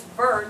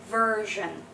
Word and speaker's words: version: ver I'm glad that it's ver not ver I am black but actually it is version mhm and a lot of times when we have something eer in the beginning of the word so like version like v e r it's going to be not an e but an like I used our Russian symbol because it will make your life easier so it's version this is I almost